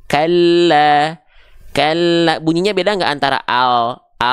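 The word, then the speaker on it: كَلَّا: Oke teman-teman sekalian, jadi dibacanya bukan kala nggak, tapi kalla.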